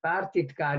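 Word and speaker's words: pártitkár: And partitkár is normally pronounced with one T, even though they come from with two T's, okay?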